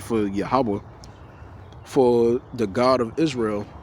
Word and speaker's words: Yahawah: It's a fourletter word, but it's missing the ah sound to it, right? The ah. So it says is the fourlet Hebrew name, right? For Yahawah for the God of